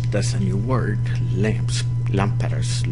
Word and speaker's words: lámparas: Lámparas. Look at the accent on the first A.